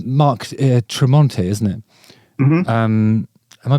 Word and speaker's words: Tremonti: So learning to play for real, presumably that's like, because you guys and it's Mark Tremonti, isn't it? Mm-hmm. Am I pronouncing that correctly?